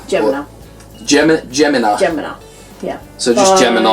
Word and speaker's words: Gemina: Now this is, I don't know if it's pronounced Gemina. Gemina.